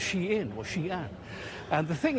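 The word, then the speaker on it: Shein: Americans are always going to call this company Shine. They're just not going to change their ways even though we know it's pronounced she in or she and the thing is it does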